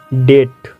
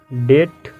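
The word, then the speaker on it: debt: थोड़ा ध्यान से देखेंगे अगर किसी वार्ड में अगर किसी मोड में टी से पहले आता है कौन पीछे पहले क्या होता है बी आता है तो वहां भी साइलेंट होता है जैसे एग्जांपल देखिए हमारे पास एग्जांपल है डेट डेट यहां आप देख सकते हो बी के जस्ट बाद क्या है टी है आईटी मेंस यहां भी बी क्या होगा साइलेंट होगा नेक्स्ट शब्द है हमारा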